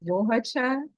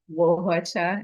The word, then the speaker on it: Nwaohuocha: name is Wohacha, and I am the founder of. Yes, so it's pronounced Wohacha, but it is spelled with an N. So it is Wohacha, and I want to say Atisan to all my yes.